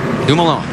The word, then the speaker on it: Dumoulin: Yeah, Rusty and I were going to let you pronounce his name. Dumoulin.